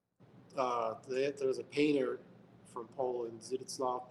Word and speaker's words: Zdzisław: It's not Stanislaw Zukowski, is it? No. Zdzisław.